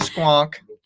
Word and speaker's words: squonk: funny look up the squonk is that how you pronounce it yeah s q n k squonk okay that's such a